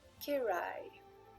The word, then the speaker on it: KejRaj: Et la personne canalisée s'appelle Kerai. On le prononce comme ça, mais ça s'écrit K-E-J-R-A-J.